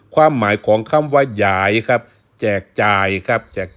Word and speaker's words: หยาย: กัน ครับ มื้อ นี้ เสนอ คำ ว่า หยาย ออก เสียง ว่า หยาย เด้ ครับ หยาย บ่ แม่น ออก เสียง ว่า ยาย ครับ เพราะ ความ หมาย สิ ต่าง กัน ครับ ฉะนั้น คำ ว่า หยาย